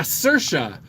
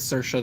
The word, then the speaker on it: Saoirse: this whole thing with Saoirse that was kind of like Liza with a Z. Yeah, rhymes with inertia.